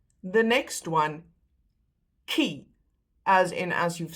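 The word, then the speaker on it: tjie: You don't pronounce the one spelled with a T as she. It's key like a K.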